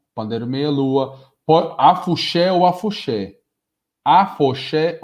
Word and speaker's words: afoxé: Afoxé ou afuxé. Vende-se como afuxé, mas quando a gente vai pronunciar alguma aula, a gente fala afoxé.